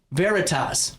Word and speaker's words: Veritas: I even pronounced it right. Veritas.